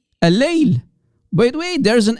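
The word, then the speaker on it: الليل: Do you hear the double L? L, guys, focus, please. Al-Layl. That's the way to say, the correct way to say the night.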